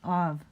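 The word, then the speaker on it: אב: Av, father. Alf, bet. Pronounce av. Remember I told you that kind of hybrid B sound? Kind of B, kind of V.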